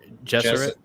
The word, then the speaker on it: Gesserit: The pronunciation is Benny Jesuit. Gesserit.